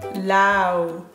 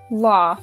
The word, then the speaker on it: law: Yeah, that Lao. No? I'm studying Lao at university. Law. The pronunciation is law.